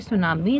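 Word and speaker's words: tsunami: आगे देखेंगे सुनामी, spelling हमें याद रखनी है, TSU, सुनामी की याद रखनी है, SUNAMI और T इसमें लगा दो, सुनामी, है ना।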